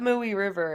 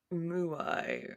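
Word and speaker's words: Mooi River: I did look up mooy River and it was I was like oh it's pronounced like basically how it's spelled and then immediately forgot but I don't know like I said it's like mui it's m o o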